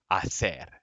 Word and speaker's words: hacer: Also, we know that whoever did this is from Spain because hacer, she pronounces hacer. And that's how they say it in Spain, en España.